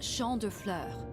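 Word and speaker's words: Champs de Fleurs: just like I imagin Champs the Flor Champs the Flor it's like a what Robin says Champs de floors how do you say that it's Shand FL it means field of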